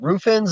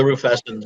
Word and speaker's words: rufescens: I think it was the roof, or I'm saying this wrong, roofins or roof, how do you say that? The rufescens, yeah. Rufescens.